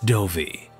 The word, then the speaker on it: Dovey: Our reader was Matt Dovey, who is very tall, very British, and probably drinking a cup of tea right now. His surname rhymes with Dopey, but any other similarities to the dwarf are coincidence.